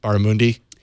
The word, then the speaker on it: barramundi: Crispy barramundi with quinoa and roasted carrot salad. Did I say it right, Megan? Barramundi?